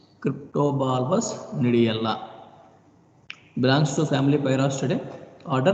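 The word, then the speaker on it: gnidiella: Cryptobulbus nidiella. I am not pronouncing G. In a species, first letter is G. We should not pronounce the G. We have to pronounce nidiella. Cryptobulbus nidiella.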